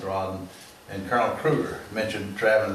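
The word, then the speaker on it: Rawdon: and two British commanders Lord Raiden Roden I believe you pronounced it Roden and Colonel Krueger mentioned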